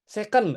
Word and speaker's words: second: Bacanya bukan sekon, Ging. Apa tuh? Sekon ya? Second. Oh, second. Ya, second, second, second.